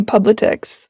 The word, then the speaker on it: Publitix: And we haven't yet mentioned your company, Publitix.